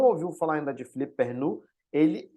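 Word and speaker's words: Philippe Perrenoud: é muito conhecido e em português o pessoal costuma falar Perrenot para o nome dele, mas eu estou falando aqui a pronúncia, né, Perrenot, que é o nome em francês dele, né?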